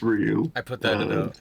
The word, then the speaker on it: Ryu: Ryu, depending on the pronunciation. You like to go Well, with, and then I mean, Ryu is the correct way of saying it. Like, I I know we want to say Ryu, but it's Ryu.